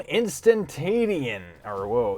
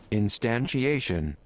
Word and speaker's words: instantiation: So, this is going to be called Quantum Instantation. Instantation. Oh, how do you say that? Instantiation. Alright, either way, Quantum Instantiation.